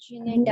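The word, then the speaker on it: Gnetum: नीटम। नीटम, नीटम, जी silent है, okay नीटम। ठीक है, जी ओके साइलेंट है, नीटम, बहुत बढ़िया।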